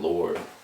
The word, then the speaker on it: Lour Sky: Still pronounce it Lord. Because when you country, you don't really say the D at the end, you know what I'm saying? We just be like Lord, so Lour Sky.